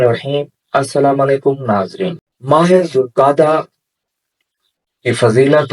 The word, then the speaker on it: ذوالقعدہ: بھی کہا جاتا ہے۔ ذوالقعدہ 2 لفظوں سے مل کر بنا ہے، ایک ذو اور دوسرا القعدہ۔ اس کا درست تلفظ ہے ذوالقعدہ۔ ذوالقعدہ کی حرمت کی